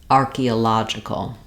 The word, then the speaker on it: archaeological: vowel sounds and then now this first o becomes our schah the o sound and where our stressed syllable is then in that syllable letter O says the A and then we still have the letter G saying the J sound um I've Rewritten here